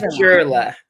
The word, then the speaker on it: Previlon: It's Prevalon. Jurla. Jurla. Child.